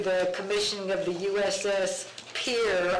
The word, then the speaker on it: Pierre: commissioning of the USS Pier. I always thought the city was Pierre, but it's Pier.